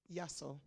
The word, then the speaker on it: Yasso: Yasso. Pronounce after me.